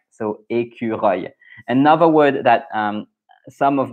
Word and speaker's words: écureuil: the hardest to pronounce, because there's a œil at the end and there's a U in the middle. So écureuil, and you have the R.